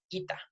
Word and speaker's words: eta: Algunos van a insistir en que la eta debe ser pronunciada como i, y por eso le llaman ita.